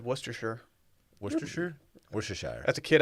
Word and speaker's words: Worcestershire: with a brown paper wrapping oh i say worcestershire worcestershire oh dylan worcestershire what's it what's proper i'm not sure i've always just said worcestershire worcestershire worcestershire that's a kid i just said